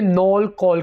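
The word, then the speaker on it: knol-kohl: गांठ गोभी को इंग्लिश में नोल कॉल कहेंगे, नोल कॉल। यहां पर हम के को जो शुरू में है इसको साइलेंट रखेंगे, नोल कॉल।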